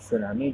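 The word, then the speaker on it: tsunami: इसमें T silent होता है, टी को प्रोनाउंस नहीं करते हैं, इसीलिए बोलते हैं इसको सुनामी।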